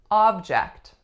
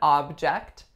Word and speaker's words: object: next up we have object object as in this is an object as in this is a noun the strongest syllable would be ah on the first and the second syllable